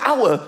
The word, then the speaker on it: hour: Why is the word hour spelled with an H? Why is there an H? The silent H.